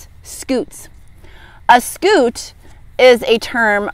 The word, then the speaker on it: Scutes: He has a very cute name, but I bet it's spelled differently than what you're thinking. S-C-U-T-E-S, Scoots.